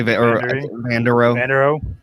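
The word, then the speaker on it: Vanderohe: They say Vander Rowe.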